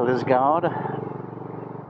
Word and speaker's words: Liskeard: So we missed most of the centre of Liskeard, or as they pronounce it here, Liskeard.